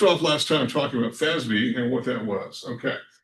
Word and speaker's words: FASB: It's pronounced FASB.